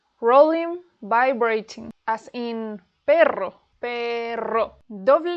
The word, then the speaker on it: perro: Perro, rr, perro, carro, carro, ratón, ratón. Ojo, the double R is pronounced with a rolled R, but some words